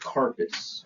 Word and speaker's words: carpus: So when we talk about the wrist in Latin terms, it it is pronounced carpass.